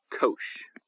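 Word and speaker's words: cosh: for short we sometimes call it Kos a long o Kos of X right it's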